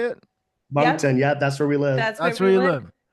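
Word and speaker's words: Moncton: mton M monton how do you say it monton yeah that's where we live that's where you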